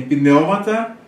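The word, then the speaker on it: πνεύματα: Daí, você tem pneumata, porque aqui você tem duas sílabas, você tem duas vogais breves.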